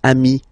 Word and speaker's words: amis: Okay, but then technically you pronounce it the same way. So singular form ami, plural form you add this S, but it's ami as well.